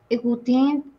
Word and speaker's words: écoute: Les étudiants écoutent les professeurs. Écoutent les professeurs. Très bien. Corina, la 17. Nous dansons le rock. Excellent. Preguntas. La prononciation écoute. Como con E al último.